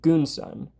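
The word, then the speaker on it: Gunsan: guu n kind of like guns but it's pronounced goonan now it's Korean different language doesn't really match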